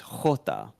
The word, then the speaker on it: jota: So the way you pronounce J is jota.